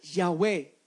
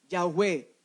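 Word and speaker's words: Yahweh: envió a vosotros significa yagüe yagüe es la traducción o la forma antigua hebrea en la cual se pronunciaba el nombre de dios pero qué sucedió con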